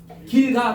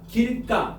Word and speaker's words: 길가: 알겠지 한자어야 한자어 봐봐 요거 발음해 봐 길가 길가 하지 말고 길가 길까 길까 길까 이러지 않아 그러면 길까 얘가 지금 뭐로 바른돼까 된 소리로 바른다잖아 맞니 어 그러면 선생